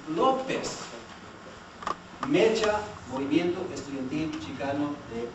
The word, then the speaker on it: López: Or saying Lopez. It's not Lopez, it's López.